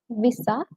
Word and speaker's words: visa: we are using it so it's not Visa most people mispronounce it as Visa but it's actually Visa so the I there it needs to be a bit elongated when you speak it's Visa so I